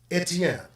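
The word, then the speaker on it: Étienne: say stephen in france and how do they pronounce it etienne where they eat okay but aside from that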